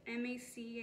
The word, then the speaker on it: MAC: I didn't even know how to pronounce MAC. M-A-C, I didn't know that was MAC, you know what I mean?